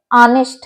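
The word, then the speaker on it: honest: है इसी तरीके से ऑनेस्ट है ऑनेस्ट में भी एच साइलेंट हो जाता है ऑनेस्ट ही रह जाता है इसी तरीके से एम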